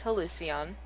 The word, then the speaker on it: Hallucion: And the pronunciation, by the way, of my radio station is hallucion. There it It is. is. It's a combination of hallucination and halcyon.